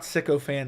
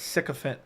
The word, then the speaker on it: sycophant: an MMA Joey siant it's not sicko fan it's siant it's spelled like pH